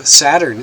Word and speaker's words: Satur: As mystery signifies the hidden system, so Saturn signifies the hidden god. To those who were initiated, the god was revealed. To all else, he was hidden. Now, the name Saturn in Chaldee is pronounced Satur, but as every Chaldee